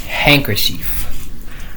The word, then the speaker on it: handkerchief: And we have handkerchief. Or, well, actually it's pronounced handkerchief. Like another word for napkin or something.